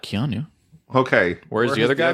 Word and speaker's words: Keanu: Keanu? I was saying Kenyu this whole time.